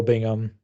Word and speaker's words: Bingham: You got Bo Bingham. Is that how you pronounce his last name?